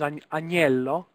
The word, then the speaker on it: agnello: note here is agnello.